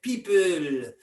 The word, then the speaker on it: people: Et il prononce évidemment avec l'accent français, donc il prononce l'anglais avec l'accent français, people.